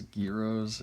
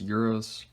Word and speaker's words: gyro: margussia and chef john call these gyros in it's not the right way to pronounce it but that's okay it's euros or euros i don't actually care